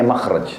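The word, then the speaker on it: مخرج: Bahasa Arabnya itu mim, kha ra jim bacanya makhraj.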